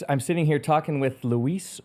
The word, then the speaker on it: Luis: sitting here talking with Lis please tell me I said that correctly Luis you absolutely I wish